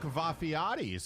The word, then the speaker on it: Vafiades: Mark Vafiades, of course. How do you think you pronounce it? Of course it's Vafiades.